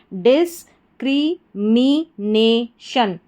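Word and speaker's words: discrimination: तो देखिए, सबसे पहले डिस हो गया, DIS, फिर CRI क्री, MI मी, NA ने, और TION शन। तो पूरी स्पेलिंग हमारी क्या बन गई? डिस्क्रिमिनेशन, डिस्क्रिमिनेशन, डिस्क्रिमिनेशन।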